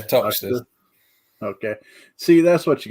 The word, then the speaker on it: Toxteth: I'm not sure how that would be pronounced. Toxteth, I think. Toxteth. Yeah, Toxteth.